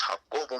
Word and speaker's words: Jacobo: quick I do apologize my name is Jacob in English but in Spanish it's hot so it's how oval Musto's Google yes sir